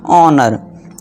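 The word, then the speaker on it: honour: ऑनर।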